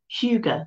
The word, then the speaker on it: hygge: Huger. I think that's how you pronounce it. It's very strange pronunciation. You might know it better as Higgy, Hygge.